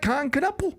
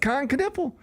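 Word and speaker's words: Knueppel: you don't know it's Kanipple you might think it's Kanipple. Yeah that's right because it kind of looks like Khan Kipple. It does but it's Kanipple.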